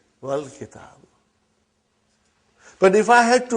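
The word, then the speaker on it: وَالْكِتَابُ: When it came in front of Hamzatul Wasal, you did not pronounce. You will say, Wal Kitab.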